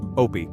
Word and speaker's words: Opie: Opie, my character, rhymes with Dopey.